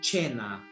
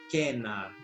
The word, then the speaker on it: cena: O ientaculum, o prandium e a cena, ou cena, na pronúncia reconstituída.